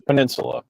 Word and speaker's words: peninsula: word that I mispronounced is the word I mispronounced yeah we already went through this it's Peninsula yeah okay but royally